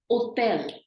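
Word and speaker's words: hôtel: it and O has an accent it's actually pronounced as hotel in French if you notice both the words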